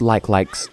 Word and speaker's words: Like Like: you're not familiar with Zelda games they're called like likes as a child I pronounced it like you likey because why would it be pronounced like like